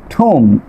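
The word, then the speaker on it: thumb: খেয়াল করেন খম, বম, ঠুম, এখানে খেয়াল করেন এম এর পরে প্রতিটি ওয়ার্ডের শেষে কি আছে, বি আছে, এই জন্য বি লেটারটি সাইলেন্ট থাকবে।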